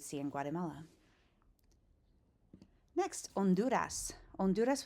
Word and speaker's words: Honduras: Honduras with a silent H, right?